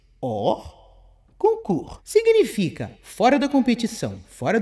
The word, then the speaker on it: hors concours: Expressão francesa hors concours pronuncia-se hors concours.